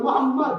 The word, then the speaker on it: মোহাম্মদ: বলুন মোহাম্মদ।